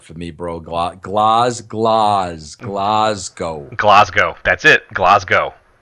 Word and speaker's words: Glasgow: really impress the guys in Scotland don't say Glasgow say Klaus go I'll never be able to say that bro glasgow that's to wait too hard for me bro Klaus Klaus Klaus go glasgow that's it glasgow it's believed me I